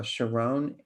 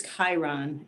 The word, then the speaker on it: Chiron: hello that's okay um it is it's Chiron and it is almost always mispronounced it's it's mispronounced more than it said correctly so anyway good morning